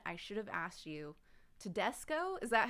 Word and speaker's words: Tedesco: ben and ben i should have asked you tedesco is that how you say it your last